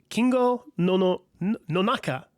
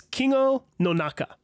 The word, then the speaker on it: Kingo Nonaka: No, let me say that again because that's forgive me. I don't speak Japanese, so all these pronunciations are sort of new for me. I think it's Kingo Nonaka.